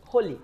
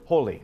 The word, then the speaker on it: Holi: Is it Holi? Is that how I pronounce it? Holi. Holi, okay.